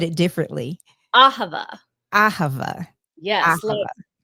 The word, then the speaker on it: Ahava: I want to say ahava and you said it differently ahava aha yes I have an aha that's one way to remember it yes and so ahava